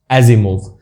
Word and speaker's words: Asimov: तो ये वी वाले जो हैं नाम आपको रशिया में मिलेंगे, तो वहाँ पे ये स का जो प्रोनाउंसिएशन है वो ज निकलता है यहाँ पर।